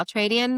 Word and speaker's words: Ultradian: the Altradian method. So, well, the Altradian method I lay out in the book and